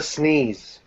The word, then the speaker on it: SNES: the Folly of man it's pronounced the sneeze before the sneeze before